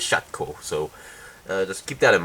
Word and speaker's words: Shokew: Shaco now despite how the English name which is which is spelled as SH o ke W the way how the Japanese anime pronounces and the Korean way how we pronounce it is shot Co so let's keep that